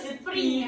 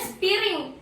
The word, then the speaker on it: spring: Kalau bahasa Inggris memang dia penyebutannya berbeda dengan bahasa Indonesia. Mungkin di bahasa Indonesia ini dibacanya spiring, misalnya. Tapi dalam penulisan bahasa Inggrisnya spring. Oke.